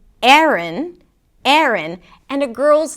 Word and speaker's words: Aaron: The first syllable is 'eh', 'eh', and even something closer to an 'uh' sound. And then the second part is 'rn', 'rn' - an R sound, a schwa, and an N - 'rn'.